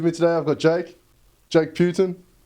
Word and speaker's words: Putan: Is it Putin? Well, it's actually a really funny story. So my family's always pronounced it as Putan.